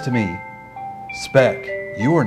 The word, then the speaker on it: Speck: My name is Speck. Rhymes with wreck.